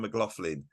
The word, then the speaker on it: McLaughlin: PRS and he goes hi this is John McLaughlin and that's how you pronounce it I'm not that far